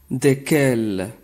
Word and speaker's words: desquels: Desquels, desquels. La lettre S située à l'intérieur de ce mot ne se prononce pas.